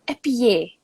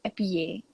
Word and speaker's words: épillet: If I remember correctly, this is a French word, It's épillet. It's like tortillon. It's pronounced with a Y. Épillet.